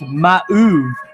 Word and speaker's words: mauve: pronoun how to pronounce mauve uh let me see ah and in a surprising twist it is pronounced ma like two syllables wow who would have